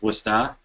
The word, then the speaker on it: Worcester: those of you who aren't from Worcester it's pronounced wora so this is a a little phonetic spelling